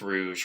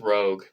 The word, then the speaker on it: Rouge: characters like Rouge and or I think it's Rouge right I've always gotten her name wrong pretty sure it's Rouge I don't think it's Rogue I think it's Rouge